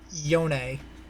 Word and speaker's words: Yone: and then he says yonei and i'm like oh he's just being weird goddammit ella's and then freak says uh his name is yone that's how it's pronounced and i'm like aha